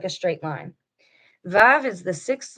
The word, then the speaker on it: Vav: Modern pronunciation in most modern Hebrew, Vav is pronounced as a V. Historical pronunciation, historically, and in some minority dialects, Yemenite Hebrew, Vav was pronounced as a W.